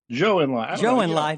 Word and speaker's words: Zhou Enlai: and you mentioned a story about Kissinger and Zhou Enlai. Did I get that pronunciation right, I think? Zhou Enlai.